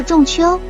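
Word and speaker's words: 仲秋: 曾出现，当时读作仲秋。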